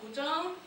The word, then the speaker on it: Guzheng: It's called Guzheng. You did a great pronunciation.